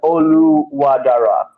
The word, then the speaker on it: Oluwadara: Oluwadara.